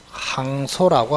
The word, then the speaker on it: 항소: 그러면 1심에서 박살이 났어 2심으로 다시 한다 요거를 항소라고 합니다 원한다고 항소 발음해 보세요 그래 그래 황소하는 사람이 있어서 황소가